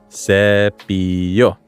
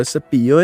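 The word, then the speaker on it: cepillo: sep SE well SE is spelled with a double L hence why it's pronounced like a y SEO now in your head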